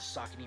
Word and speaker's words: Saucony: story takes place whether you have the correct pronunciation of sock me right there and then saucony as a brand